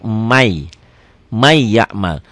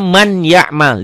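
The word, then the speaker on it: مَن يَعْمَلْ: Ditulisnya man ya'mal, dibacanya jadi may, jadi double y ya. N-nya hilang.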